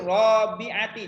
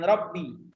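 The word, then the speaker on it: رابعة: Jadi fisanatir robiati, jangan Robbi, ya. Robiati, ya. Robiatil ibtidaiyah. Nah, jadi bacanya itu jangan sampai beda bacaannya udah beda arti.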